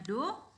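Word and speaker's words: ∂: Jadi bentuknya do seperti D tapi lebih halus ya. Jadi kita bacanya do.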